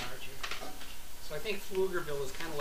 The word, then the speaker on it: Pflugerville: get yes I have it how do you pronounce the town she lives in pflugerville pflugerville pflugerville the only reason i knew that is